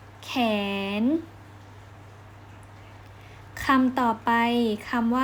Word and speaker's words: แขน: ที่ 3 คำ ว่า แขน ข สระ แอ น หนู ข แอ น อ่าน ว่า แขน แขน คำ ต่อ ไป คำ